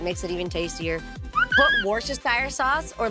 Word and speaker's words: Worcestershire: I love it, but I don't know how you pronounce it. Worcestershire sauce. Worcestershire. Worcester sauce.